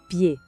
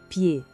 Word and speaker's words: pied: Le pied. A gente pronuncia le pied. O D no final é mudo também. É um som bem limpo, bem direto. Le pied.